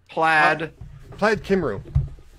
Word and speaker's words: Plaid Cymru: How do you pronounce that? Plaid Cymru.